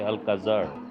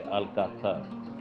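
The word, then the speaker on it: Alcázar: that says s alkaser actually the z sound cannot be pronounced as an English Z so you cannot say Al Kazar you have to say alatar a lot of construction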